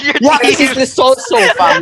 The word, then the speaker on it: Lo Celso: is Lo Celso, fam. Lo Celso.